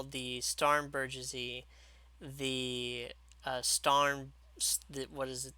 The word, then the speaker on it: Starnberger: wanted to call the Starnbergersy the Starn what is it, the Starnberger. Like I wanted to pronounce it French, but it's actually a German word.